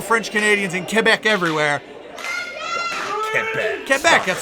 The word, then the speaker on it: Quebec: Quebec, that's how you say it.